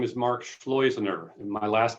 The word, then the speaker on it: Schleusener: and hard to pronounce this is how you remember it slows inner rhymes with poisoner that's how you say it poisoner rhymes with poisoner.